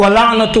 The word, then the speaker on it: وَلَعْنَةُ: حسین کے بارے میں، تو اس کا صحیح تلفظ کیا ہے؟ وَلَعْنَةُ اللَّهِ، دیکھیں ادھر بھی ہے، وَلَعْنَةُ اللَّهِ عَلَىٰ